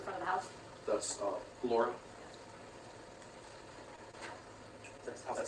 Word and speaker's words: Lara: I thought that was pronounced Lara. He's pronouncing it Laura, but the prosecutor's also